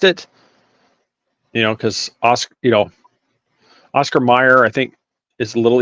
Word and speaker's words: Oscar Mayer: Well, Mayer, Mayor, is pronounced Mayor. Mm-hmm. So why not Mayer?